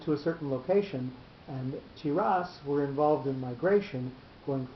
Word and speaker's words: Tiras: It may be substantiated that phonetically Tiras may be pronounced Thiras, which resembles Persia, just as Athanasi is like Aphanaxi, or Athenae, and is like Athenae.